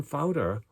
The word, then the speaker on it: Pfauter: guy uh whose name happened to be hermann fowter father is spelled p-f-a-u-t and you can google that